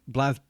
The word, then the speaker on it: BlazBlue: Blaze Blue because it is Blaze Blue, not Blaze Blue, isn't it? Even though I haven't got an E. I think it's Blaz. Is it Blaz? I think it's Blaz. I think we've been saying it wrong this entire time. Okay, we'll call it Blaz Blue.